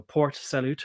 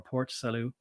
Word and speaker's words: Port Salut: And that's salute, as in like saying hi or raising your arm in a military way to salute. So Port Salut or Port Salut in the south.